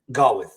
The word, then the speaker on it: Gawith: Gawith.